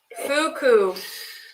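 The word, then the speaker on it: Fukuisaurus: And imagine just trying to say it without the pronunciation help. I thought that was not real. It's a real dinosaur. Fukuosaurus.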